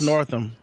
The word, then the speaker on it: Northam: Northam.